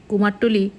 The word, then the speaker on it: কুমারটুলি: আর ওর বন্ধু মিলে কোমরটুলি ঘুরতে গিয়েছিল ওর তোলা কিছু ভিডিও সেগুলোই আমি আপনাদের সামনে রাখলাম কুমারটুলি কথ্য উচ্চারণে কুমরটুলি কলকাতার উত্তরভাগে অবস্থিত একটি